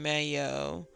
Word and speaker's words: Mayo: the Irish Mike EO pronunciation Mayo much like the condiment got it crohan crohan